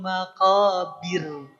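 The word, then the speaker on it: المقابر: Tapi ayat yang kedua karena sebelumnya berharakat kasrah maka jadi tipis. Hatta zurtumul maq bir tipis. Coba-coba dipraktikkan ya dari ayat pertama yang tebal. Alhaakumut takur. Mangga ah tebal ya. Yang kedua, hatta zur kalau ketika zur dia tebal. Hatta zurtumul maqabir. Mangga. Heeh. Bir ya bukan bir.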